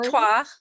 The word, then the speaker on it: Victoire: Is it Victoire or Victoria? Victoire. Yeah. Victoire?